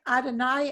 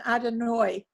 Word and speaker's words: Adonai: a very small one we're hearing adonai and adonoi why are there two pronunciations of that oh because some people are from new york and some people are not good um there's different um